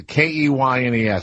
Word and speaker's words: Keynes: Now, is that part of the, what's the guy, K-E-Y-N-E-S, how do you pronounce that?